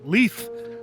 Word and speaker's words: Leif: Excuse me, Aaliyah, you're pronouncing it wrong. It's Leaf.